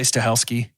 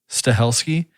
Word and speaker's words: Stahelski: How do you pronounce the director's name? Chad I would say Stahelski. Stahelski?